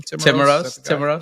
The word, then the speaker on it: Timiraos: How you pronounce his name? Timiraos.